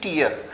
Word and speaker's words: tear: क्राई के sense में हम जब भी यूज करेंगे तो TEAR will always be टीयर। लेकिन अगर हम छेद या फाड़ने इन सब के सेंस में यूज करते हैं then it will always be pronounced as टेयर।